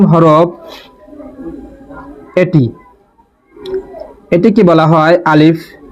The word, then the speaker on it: আলিফ: এটিকে বলা হয় আলিফ। কোন টান হবে না।